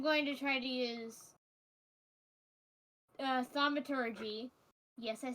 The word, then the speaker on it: thaumaturgy: So, first off, I'm going to try to use thaumaturgy.